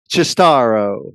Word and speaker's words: Cistaro: Please welcome Anthony Cistaro. Anthony, thanks for Hey, joining. thank you, Tony, and extra credit for the proper Italian pronunciation.